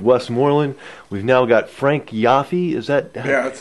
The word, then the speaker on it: Yoffe: Good Fortune of West Morland we've now got Frank yafi is that yeah that's how you pronounce it okay uh as West Morland condo